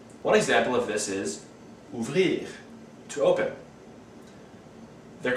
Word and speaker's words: ouvrir: The R in this case is pronounced, where it wasn't pronounced for verbs that end in ER, like parler. These verbs must be conjugated depending on the subject, just like verbs with ER.